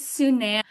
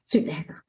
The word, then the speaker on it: Sunaina: It's Sunaina. Sunaina. Okay. And the easiest way to remember it, fortunately or unfortunately, is it rhymes with banana.